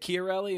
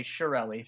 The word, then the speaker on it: Chiarelli: no kid and know is it Kelli is that how you pronounce it or is it something different that is how you should pronounce it but one including my family does so we just say Shelli but you're you're pronouncing